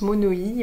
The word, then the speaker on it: monoï: donc c'est pas du monoï, on dit à la tahitienne, ça se prononce monoï, voilà, donc je suis allée à Tahiti et donc j'ai ramené voilà, ce flacon qui sent...